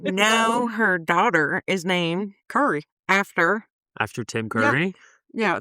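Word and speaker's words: Curie: I always tell people that it sounds like, Curry like the radiologist.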